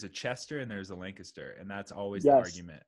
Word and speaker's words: Lancaster: And yeah, guys, if you are in, is it Lancaster, PA, right? Yep, like Lancaster. And you said it right, dude.